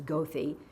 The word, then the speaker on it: Goethe: where the lake was, didn't know how to pronounce Goethe Street, which is Goethe, and one of them.